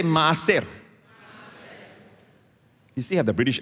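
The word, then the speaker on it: מעשר: And the word tithe here in Hebrew, here's where the Hebrew comes in, all right, means maaser. Say maaser. You still have the British accent. You know, maaser is spelled, by the way, the Hebrew is read from right to left.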